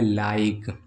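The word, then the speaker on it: like: उदाहरण के लिए जैसे लिखा है लाइक। ठीक है? लाइक एल आई के ई। क्या हो गया? लाइक। इसमें इ को हमने उच्चारण मतलब इ का नहीं उच्चारण किया है। ठीक? साइलेंट ही है।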